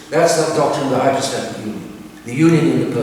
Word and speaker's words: hypostatic: The hypostatic union is two big words, or at least one big word, hypostatic, 4 syllables, it's Greek.